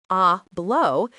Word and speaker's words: hablo: When a Spanish speaker hears the verb hablo, pronounced ablau, they immediately know it means I speak.